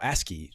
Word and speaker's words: ASCII: But, oh, ASCII.